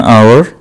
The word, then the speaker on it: hour: And in words like in sentence like he is wearing a uniform, we still use A, but we use an hour because the initial sound is R.